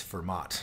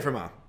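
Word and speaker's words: Fermat: to pierre de forma or you might know him as firm ott and if you've only River read it and you didn't know he was French and the tea should not be pronounced um I'm probably still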